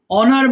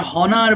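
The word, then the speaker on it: honour: অনার মানে সম্মান করা। সবাই একটু বল এটা হনার বলে ফেল অনেকে। এইযে এইচ আছে এইচ এর পরে যদি থাকে তাহলে এইচ এর উচ্চারণটা আমরা নেবো না।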